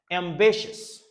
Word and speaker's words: ambitious: Ambitious. Ambitious. Ambitious. Ambitious. Ambitious. Même si vous êtes là, le prononcer tout coup, c'est chess.